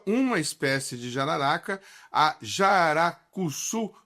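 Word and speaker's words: jararacuçu: e ela estuda uma espécie de jararaca, a jaracuçu, pronunciei correto, Eletra, é isso mesmo?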